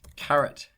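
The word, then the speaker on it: caret: so we're going to install carrot package not spelled like the vegetable and then load it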